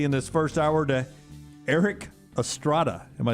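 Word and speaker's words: Erik Estrada: We're starting with basketball here and then getting quickly in this first hour to Eric Estrada. Am I saying that correctly? You are, yes. Eric tough one to pronounce.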